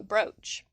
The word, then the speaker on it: brooch: can it's usually oh brooch like boat unless you're a canadian